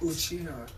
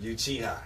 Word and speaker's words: Uchiha: But how do you pronounce that? Uchiha, like Uchiha.